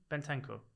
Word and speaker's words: Bentancur: Bentancur. Google it. He's got an N in his name. Bentancur. It's pronounced Bentancur. It's a silent N.